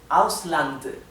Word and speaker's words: Ausland: y distinguible la t ausland la d final tiene que escucharse claramente bien n